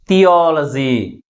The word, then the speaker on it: theology: Okay, how we articulate this word? Theology. అంటే LOGY సఫిక్స్తో ఎండ్ అయింది కాబట్టి ప్రైమరీ స్ట్రెస్ని లాస్ట్ నుంచి మూడో సిలబుల్ ముందు ఉంచామన్నమాట.